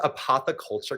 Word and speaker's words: Apotheculture: more about this event yeah so we're called apoe Culture Club it's spelled like Apothecary APO T Culture Club and